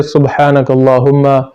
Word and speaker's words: سبحانک اللہم: سب سے پہلے ہے سبحانک اللہم۔ تو اس میں لوگ غلطی یہ کرتے ہیں کہ وہ سبحانہ پڑھتے ہیں، با پر فتحہ یعنی زبر پڑھتے ہیں، تو یہ غلط